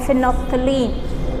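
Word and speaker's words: phenolphthalein: आता है वो है फिनोफ्थलीन. Okay, the big name फिनोफ्थलीन, अगर हटाएंगे तो फिनॉल थलीन. फो को साइड करते हैं, यानी कि थोड़ा साइलेंट होता है.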